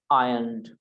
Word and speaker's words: ironed: ironed। ये iron की Second second form. iron मतलब प्रेस करना, इस्त्री Yes, करना। yes. ओके, तो I ironed, I ironed a t-shirt. इसमें R साइलेंट, इसलिए ironed नहीं बोलते, iron अच्छा.